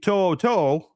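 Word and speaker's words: To'oTo'o: Mike linebacker is Henry tooto and yes that is how you say it I actually looked look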